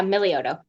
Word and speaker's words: Milioto: Do I pronounce this Milioto? Yeah, Milioto.